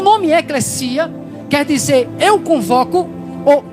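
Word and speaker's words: ἐκκλησία: Teologicamente, a palavra igreja, ela provém do substantivo composto grego eclesia, o que alguns pronunciam eclésia, devido ao português às vezes o S tem som de Z, mas a pronúncia correta no grego é eclesia, que por sua vez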